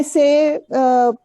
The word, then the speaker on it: c'est: Say is For me. exactly For same moi. as say in English. Say, the pronunciation is same as say in English, and pour moi, pour